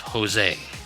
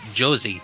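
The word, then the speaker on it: José: You have Jose. Yep. It's a J, not an H. But if we were to pronounce it using English phonetics, it'd be Josie. Yep.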